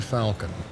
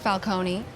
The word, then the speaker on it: Falcon: This is Rebecca Falcon. She's an attorney representing the company. Sounds like a fucking Marvel character. It's pronounced Falcone, and it sounds like it's Italian.